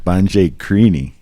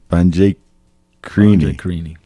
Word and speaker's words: Banjhakrini: Banjhakrini. Banjhakrini.